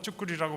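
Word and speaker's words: 作り: 츠쿠리는 이렇게 쓰고 이걸 다 또 쭈꾸리라고 발음합니다.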